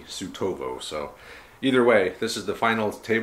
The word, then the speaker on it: Suetovo: supply based proper in the little town of sutabo i guess the more proper pronunciation would be tsutovo so either way this